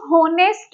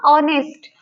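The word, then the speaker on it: honest: पर लिखा हुआ है इसको होनेस्ट नहीं कहते, क्योंकि एच का साउंड ये नहीं दे रहा, ह का साउंड ये नहीं दे रहा है। ये एच इसमें क्या होता है? साइलेंट होता है, इसको बोला नहीं जाता। तो ये क्या प्रोड्यूस होगा? ऑनेस्ट।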